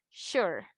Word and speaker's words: sure: Entonces tú no te preocupes, así como acá no tenías que decir sure, ¿verdad? Ni shure ni nada. El Sure. sonido de la E automáticamente es una silent letter. Entonces ella no va a tener sonido. Entonces es sure, sure.